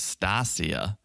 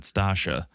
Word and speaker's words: Stasia: thought her name was Stasia. That's what I thought too. It's spelled Stasia, but everyone pronounces it Stasha.